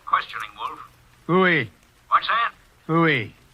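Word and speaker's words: Pfui: Fooey. It can be spelled in several ways. I spell it P-F-U-I.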